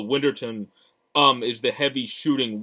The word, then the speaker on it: Winterton: then ryan whit whitterton who i always mispronounce his name is worcesterston for some reason but winterton um is the heavy